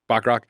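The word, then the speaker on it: Bachrach: Eban Moss Bakarat. Is that how you say it? Backrock.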